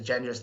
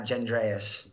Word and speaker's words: Gendris: Gavin Gendris said his name is Gendris, not Gendreas.